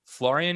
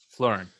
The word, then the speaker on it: Florin: where you know you florian is his name florin yeah florin um so apologies for